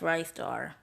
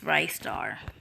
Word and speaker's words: Ristar: Also, yes, it's pronounced RISTAR. If you say it any other way, that's just straight up wrong. It's RISTAR.